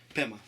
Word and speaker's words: Pema: Pema. Like Pema Chodron?